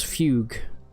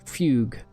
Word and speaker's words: fugue: I don't know how to pronounce fugue. It's fugue. Like that. Like F-Y-U-G. Fugue. Don't say fugu. I think that's a Japanese dish.